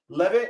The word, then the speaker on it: Levy: Levy as in pronounced took the Levy to the Chevy to the Levy.